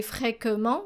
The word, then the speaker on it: fréquemment: So notice how we pronounced A here and not E. We don't say fréquemment, we say fréquemment.